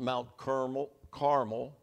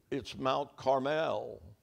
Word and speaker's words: Mount Carmel: It's not Mount Carmel. It's Mount Carmel.